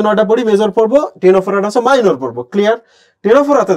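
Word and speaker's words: Ctenophora: দেখো তো টিনোফোরা বানানটা দেখো, CTNOPHORA, টিনোফোরা। এটা একটা পর্ব, বুঝছো?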